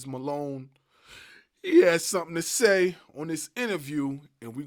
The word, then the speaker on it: Esz: Pronounce it like the letter, don't say it at all.